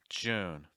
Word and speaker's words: June: but we want you the other thing is for the uh sound make sure that you're not adding a syllable before the end so it's not ooh in it's own June July July make sure